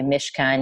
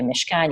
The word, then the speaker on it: Mishkan: reading it in English so like say mishkan you could say mishan you could say mishan um but you're not GNA like bungle a CH guttural or a you know an apostrophe with you know multiple gutturals and a silent I in or something so mishan seemed like